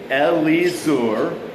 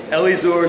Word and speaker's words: Elizur: But for weird names, always pronounce the I's an I or an E. Pronounce every vowel. And what you'll get is Elizur, son of Shedeur.